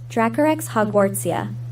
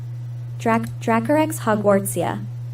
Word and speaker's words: Dracorex hogwartsia: So I put in the corner here on the screen this little thing that will pronounce it. So listen closely. Dracorex hogwartsia. Dracorex hogwartsia.